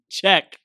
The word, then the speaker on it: Czech: Czech. Czech. But Czech is spelled C-Z-E-C-H because Petia, the wonderful woman in Chris's life, is from the Czech Republic.